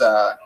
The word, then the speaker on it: pozole: No, if you look up chicken, I believe it's Pozole, and it's pronounced pozole for all you fucking gringos out there.